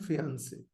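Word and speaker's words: fiancée: And this is, okay, fiancé and fiancé. Okay. So this is basically two people who have been engaged. Okay. Fiancé and fiancé. So both pronunciations are same actually.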